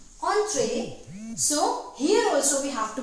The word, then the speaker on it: entrées: But this ES need not to pronounce, need not to give any sound to this ES, it will be silent.